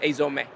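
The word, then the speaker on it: 藍染め: as Japan Japanese blue um is actually called asome or in Japanese pronounced aome uh which would be hard for others to pronounce.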